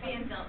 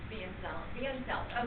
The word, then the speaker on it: Pfanzelt: Pfanzelt, the P is silent. Pfanzelt.